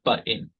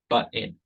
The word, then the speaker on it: button: A lot of dialects, for instance, of English, pronounce the word button. They don't really pronounce the t. They say button, button.